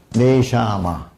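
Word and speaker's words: נשמה: 네샤마. 끝에 오는 H는 발음이 안 납니다. 그래서 네샤마라고 해요.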